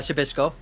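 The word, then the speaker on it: Przybyłko: right with that yeah you kind of skip the p and go right into the sh and then uh i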